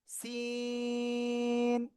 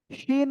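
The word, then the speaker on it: سين: এই যে সিন, এমন উচ্চারণ হবে। শিন হবে না। শিন হতে গেলে উপরে 3 নোক্তা হতে হয়, ঠিক আছে?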